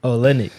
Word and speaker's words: Olynyk: Olynyk.